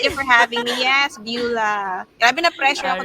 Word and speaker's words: Beulah: and everything goa y so I'm bua So that's how you pronounce my name 25 years old so